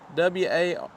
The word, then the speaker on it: Wardle: I shouldn't attempt it, but it is Job, W-A-R-D-L-E, Wardle. That's how I take it, at least.